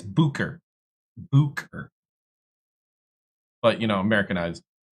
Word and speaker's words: Bucher: Yeah, it it's pronounced Booker. It's German. Technically, it's Booker.